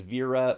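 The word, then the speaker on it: Wera: And these are actually spelled these are actually spelled with a W. So, my understanding is that the pronunciation is Vera, but it's Wer A.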